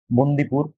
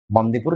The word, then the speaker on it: বন্দিপুর: রয়েছে সারিস্কা সিংলি পাল বন্দিপুর silent valley আচ্ছা এটা বান্দিপুর নয় বন্দিপুর silent valley national park